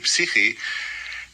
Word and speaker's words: psyche: She said, the word psyche is a Greek word. It's actually pronounced psyche, and it means soul.